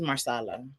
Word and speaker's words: marsala: So if you go to Olive Garden, it's called stuffed chicken marsala. I might be mispronouncing it, but it was bussin'. And then for dessert, you're correct. It is marsala.